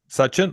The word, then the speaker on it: Sachin: Sachin, is that how you pronounce it? Uh, Sachin. Suchin.